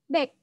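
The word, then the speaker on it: 백: Untuk angka 100 adalah back. Back. Kalau Konda Friends lihat romanisasinya aku tuliskan baik. Bacanya bukan baik ya, bacanya adalah back.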